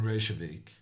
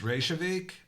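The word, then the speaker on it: Reykjavík: win tomorrow Pro well actually it's pronounced revik um it is a Norwegian and since Icelandic is kind of like old Norwegian I'm just I'm just pronouncing it in my own language I don't really know how they pronounce it in Iceland can you hear me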